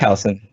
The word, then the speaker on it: Taliesin: I'm not sure how to pronounce his name. Is it Taliesin? Jaffe? Taliesin, Yep.